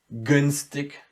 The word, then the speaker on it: günstig: Günstig. The first G is very distinct and it's very soundy. And the last one, in the very end, again loses its softness and it gets like a K.